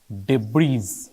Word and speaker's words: debris: Dead debris বলবো, dead debris, এ silent থাকে, dead ডেব্রি।